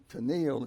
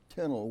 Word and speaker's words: Tennille: They changed the pronunciation to make it Captain and Tennille instead of Captain and Tennille, which didn't sound right.